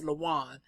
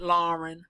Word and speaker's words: Lawan: It's Lawan. Not Lauren, not Lawana, not Lawanda, Lawan.